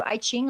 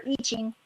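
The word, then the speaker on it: I Ching: of those work good I used to do iing online or iching rather I say it wrong actually want to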